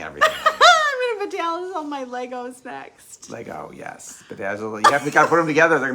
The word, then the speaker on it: Lego: Why isn't it Legos? It's not plural. It's just Lego.